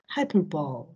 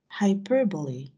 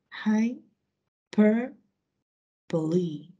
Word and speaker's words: hyperbole: greek incorrect pronunciation is hyperbole correct pronunciation is hyperbole high per bully hyperbole thank you see